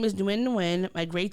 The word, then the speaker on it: Nguyen: So Flaws tweeted out, yes, her name is Ningyun, my grade 6 classmate. Nguyen. Wait, what did I say? Nguyen. Nguyen. Oh, Yep, thank you. The G is silent. Her name is Nguyen, my grade 6 classmate